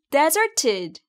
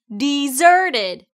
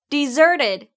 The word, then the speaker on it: deserted: deserted 중에 zer를 강하고 좀 길게 발음해 주시면 돼요. deserted. 자, 여기서 deserted가 아니라 deserted예요. 한번 같이 해볼까요? deserted. deserted. deserted.